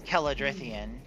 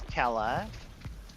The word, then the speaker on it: Kela: 5, 4, It's Kela 2, 1. I started spelling it with a K because I was tired of people not pronouncing it in the Gaelic way.